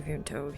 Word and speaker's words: Vimto: I don't I don't know how you pronounce that. We say Vimto.